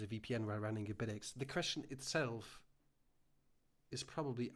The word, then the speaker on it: Bitaxe: I'm hitting like request to speak, and the only thing I say it's not Bitaxe, it's Bitaxe, and I go out there again.